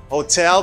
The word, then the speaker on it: hotel: it's hotel hotel and sometimes people say hotel no it's hotel because the stress is on the second syllable stress salina de sila